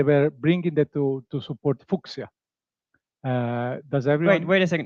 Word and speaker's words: Fuchsia: They pronounce it Fuchsia, but they pronounce it the Latin way, Fuchsia.